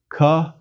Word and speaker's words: Chi: back of the throat as one pronounces it chi Chi the air escapes it's equivalent to the CH in Scottish Loch or German doll if you can't make